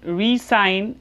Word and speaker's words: re-sign: We will pronounce it resign as we pronounce it for signature, or you can say short form of signature, resign.